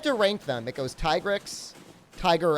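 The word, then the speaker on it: Tigrex: say tigrix for us i know it's supposed to be t-rex but just because i know that doesn't mean i'm actually gonna pronounce it that way now we're just gonna we're gonna get the cactus flowers i don't it's not t-grex i mean depending on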